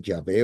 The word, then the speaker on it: Yahvé: diga Jehová, porque realmente el nombre no es correcto Jehová. Debería ser Yahvé o Yah- Yah- este, bueno, depende como en qué idioma se pone, pero Yahvé.